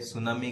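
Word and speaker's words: tsunami: सुनामी की जो अंग्रेजी की जो स्पेलिंग होती है उसमें सुनामी टी से स्पेलिंग इसकी शुरू होती है, टी साइलेंट रहता है, ध्यान रखना कभी भी।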